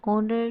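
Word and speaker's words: honour: His glorious success is एन ऑनर to Pakistan. अब यहां पे एन ऑनर क्यों लग रहा है? क्योंकि एच जो होता है साइलेंट होता है और ओ जो है वोवेल है।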